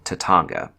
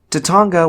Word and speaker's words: Tatanga: the evil space alien Tatanga. And yes, the name is pronounced that way, so that's why I'm saying it like that. Tatanga was only mentioned as